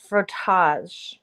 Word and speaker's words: frottage: obtaining sexual gratification and the pronunciation is like frottage like protoss my god nice clothes